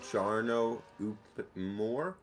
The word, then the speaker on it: Jarno Opmeer: Yeah, I think his name I actually think his name is pronounced Jarno Opmeer. He's Dutch. There's an accent.